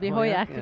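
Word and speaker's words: Hojak: appearance this morning We got the final decision Hoyak right At which Gwendis through to the quarterfinal We mentioned her this morning I just saw that Is that Hermanson i'm just thinking about the pronunciation of Hoyak And I wonder if if it's going to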